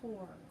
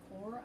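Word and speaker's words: corps: discovery remember that c c-o-r-p-s is pronounced core core of discovery and the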